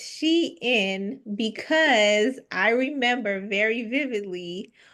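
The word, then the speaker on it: Shein: And I also remember seeing something around sheen Sheen Sheen. Um I don't know people pronounce it both ways. Let's let's I'll say I'll I'll uh correct the question here. It's she in because I remember very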